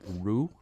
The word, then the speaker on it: Rue: at the house there Rue. Rue. Rue. R-U-E. Okay. Street which- in French? Right, it would be. But it seems like a good name for a ghost, Rue. Like I rue the day or whatever.